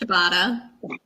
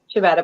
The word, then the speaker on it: ciabatta: Okay, how do you pronounce what Emmy said? Ciabatta? Ciabatta? Yeah. How do you say that? Ciabatta.